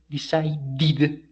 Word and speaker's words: decided: the the the last the last sound of this verb is the therefore we say decided the the past form